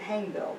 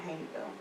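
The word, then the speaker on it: Hayneville: hanville Alabama um and they pronounce it hanville there not hanville umon they have they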